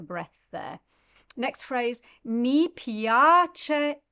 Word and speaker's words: piace: Next phrase, mi piace e bello bello. So mi piace, pia is the syllable that you need to emphasize there.